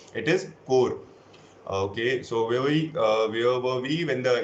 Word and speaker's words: corps: But corps is not the correct pronunciation, though it is written as corps, but it is pronounced as core, right?